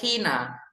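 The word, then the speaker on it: China: yang kurang tapi bacanya itu hina hina c h i n a hina bahasa yang digunakan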